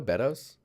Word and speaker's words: Beddoes: It's Beddoes. Am I saying it right though? Beddoes? Like Meadows, but Beddoes?